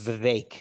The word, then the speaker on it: Vivek: It's Vivek, actually. Vivek. Okay. Yes. Yeah. My friends say you can bake a Vivek cake. Vivek. So yeah, rhymes with bacon cake.